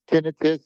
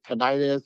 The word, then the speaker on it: tinnitus: And yeah, some people pronounce it tinnitus, some pronounce it tinnitus. So everyone has a different thing.